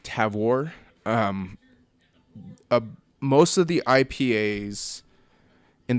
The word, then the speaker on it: Tavour: I will say about Tavor although when they pronounced it on the phone it's like TAV war most of the IPAs